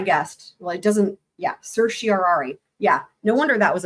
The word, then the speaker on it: certiorari: Let's see if I can find out how to pronounce this word. I'm usually pretty good at okay, certiorari.